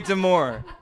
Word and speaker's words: demure: That's very demure.